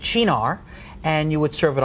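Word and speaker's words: Cynar: which is based on the artichoke and it's pronounced Shinar and you would serve it on the rocks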